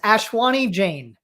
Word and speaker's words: Ashwani Jain: ashwani how do you say it yup it's ashwani jane ashwani okay i just wanted to make sure